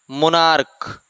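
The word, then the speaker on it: monarch: तो सी एच का उच्चारण जब क होगा तो केवल एस लगेगा।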